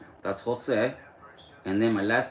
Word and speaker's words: Jose: And my name is spelled J O S E. That's Jose.